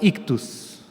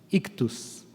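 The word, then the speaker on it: ἰχθύς: En griego, esa es una palabra griega, es la palabra ictus, ictus, y significa pescado, simplemente pescado.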